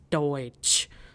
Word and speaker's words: Deutsch: So we have the word Deutsch because EU is pronounced as OE. So hence pronunciation is Deutsch.